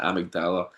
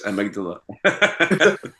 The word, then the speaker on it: amygdala: rest of the song Simon saying amagdala. He's pronouncing it amdala. Yeah. And he's he's genuinely like scared that people think that he thinks that's how you pronounce it. He had he had to make sure that everyone knows he knows it's Amydala.